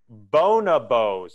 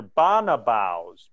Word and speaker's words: bonobos: of the primate family I believe it's pronounced bonobos or Bona vows bone above bo n OB os bonobos which just so we're